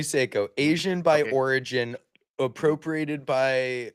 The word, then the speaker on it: Seiko: It's Seyo. It's It's definitely Seiko.